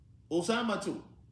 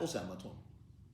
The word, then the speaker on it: أسامة: Because it has a tat to end, we pronounce it with one dhamma. Usamatu. One dhamma. Not Usamatun.